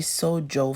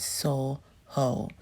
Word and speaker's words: SoJo: to soho is really so joe for me because it's sojo but you know um it's a spanish place they pronounce they jer they j silence so they call it soul hoe so we are i